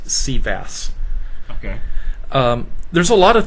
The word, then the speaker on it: CVAAS: long name and so we tend to pronounce our acronym we call ourselves sea bass okay there's a lot